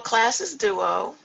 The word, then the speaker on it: Classes Duo: Well, Classes Duo, that's the way it's pronounced in English. It's spelled CLASSES, duo. In French, it's pronounced class, so it would be like the singular.